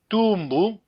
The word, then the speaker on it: tumbu: If I say tumbu, tumbu means punishment. Tumbu, there's no nasal.